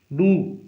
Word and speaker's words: dough: देखिए, एक वर्ड लिखता हूं मैं यहां, डू। ये देखिए स्पेलिंग, और इसको बोलते हैं डो।